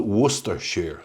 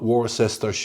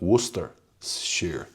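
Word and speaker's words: Worcestershire: And for any Americans watching or listening, this is called Worcester Shear. Not Warcester or Warchester or anything like that. It's Worcester Shear, which is the English pronunciation.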